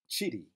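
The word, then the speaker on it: kiri: It is chiri, chiri. Again, that ki producing that ch sound as in church.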